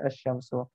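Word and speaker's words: الشمس: memudahkan kita untuk membacanya jadi dibaca Syamsu bukan ada jam sebagai asy-syamsu ayam tepung jelasnya ini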